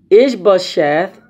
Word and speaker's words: Ishbosheth: Ishbosheth, I said it wrong all day. I said it incorrectly all day, incorrectly yesterday.